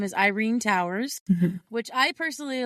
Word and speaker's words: Yrene: Her name is Irena Towers, Mhm. which I personally love because my friend's name is Irena, my oldest friend. Even though it's spelled different, with a Y versus an I.